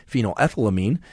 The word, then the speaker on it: phenylethylamine: PEA stands for phenylethylamine, sometimes also referred to as phenylethylamine, depending on who you are and where you live.